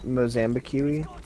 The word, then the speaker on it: Mozambique: mojang beacon that's it i believe it's pronounced mozambique thank you i think there